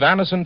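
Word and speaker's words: Anacin: Get a handy box of Anison tablets at your druggist tonight. For most effective relief, use only as directed. It's spelled A-N-A-C-I-N. Anison.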